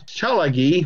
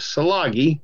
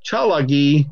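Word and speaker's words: Tsalagi: It says Cherokee, Order of the Arrow, which is interesting because Chalagi, which is mispronounced as Salagi, Chalagi is the Cherokee word for Cherokee.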